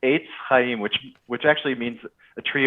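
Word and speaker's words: Etz Chayim: This is, and by the way, Rabbi, how do I pronounce it? Is it Congregation Etz? Is it Chayim or Chayim? How do you pronounce it? The first time around was correct. Eitz Chayim, which actually means a tree of life.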